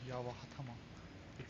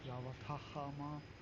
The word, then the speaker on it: Yawatahama: I always say it wrong, Yawatahama. That's the wrong way. Yawatahama is the right way.